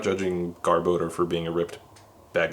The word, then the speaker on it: Garbodor: For the longest time, I used to pronounce this Pokemon's name as Garbodor, but it's actually Garbodor, which makes way more sense.